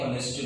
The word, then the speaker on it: honest: Here H is silent.